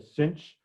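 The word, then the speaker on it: sinh: y d y so s i n h i'll pronounce is a cinch it stands for a hyperbolic sign but that too hard to say i'll just say cinch okay differentiate d u equals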